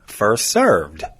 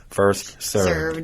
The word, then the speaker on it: served: No, but the mispronunciation is first come, first serve. Like you're the one that's going to do the serving when you get there. Right. It's first come, first served. Served. With a D on the end.